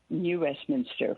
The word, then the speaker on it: New Westminster: of actually where you live how do you pronounce that New Westminster which is near Vancouver and subject it's fun